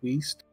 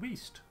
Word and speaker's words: Wiest: west i think you're finally pronounced waste oh waste it's diane wiest adam wiese that sounds